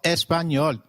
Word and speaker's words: Español: It is pronounced as ni, like in canyon. So, can you try saying Español? It is called Español.